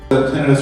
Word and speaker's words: tinnitus: Tinnitus or tinnitus, it's described or pronounced, that's the generation of sound in your ear.